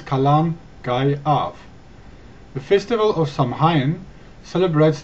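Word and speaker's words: Calan Gaeaf: Britons and is known as column guy off pronounce column guy off the festival of Samhain celebrates the end of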